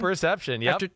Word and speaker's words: proprioception: Did I say it right? Proprioception? Proprioception, yep. Proprioception.